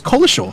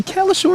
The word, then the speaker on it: Cowlishaw: of weeks ago that you corrected him saying his name was Collishaw. So I went up to him saying, I've been saying your name wrong for the last 5 years. Apparently Cowlishaw is the right pronunciation.